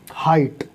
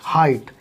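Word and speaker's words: height: जैसे हाइट, HIGHT, हाइट, तो यहाँ भी GH की आवाज़ नहीं निकली।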